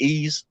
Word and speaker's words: Ys: if it, I guess you say like how Ease, well, YS, the YS games, but it's pronounced Ease.